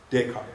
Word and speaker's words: Descartes: How do you pronounce that? Descartes, thank you.